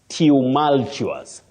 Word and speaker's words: tumultuous: pronunciation there bet Mal tumultuous tumultuous tumultuous that is it bet that is it not Tamal you this pronunciations so